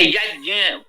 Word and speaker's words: यज्ञ: इसको ज्ञान बोलते हैं जैसे यज्ञ बोलते हैं यज्ञ है यज धातु से यज बनेगा यज्ञ नहीं होगा ये उच्चारण का अब